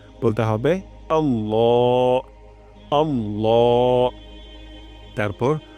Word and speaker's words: আল্লাহ: তান দিতে হবে এবং ল উচ্চারণ করতে হবে লা উচ্চারণ করা যাবে না আল্লাহ আল্লাহ রয়াল বলা যাবে না বলতে হবে আল্লাহ আল্লাহ তারপর হু আল্লাহু এখানে